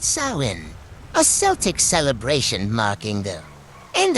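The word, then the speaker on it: Samhain: is rooted in the ancient Festival of samine pronounced sawin a Celtic celebration marking end of the harvest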